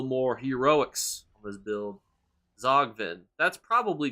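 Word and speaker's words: Tzogvin: If you're the developers watching this and you wanted me to pronounce that word like Zogvin, why even put a T at the front?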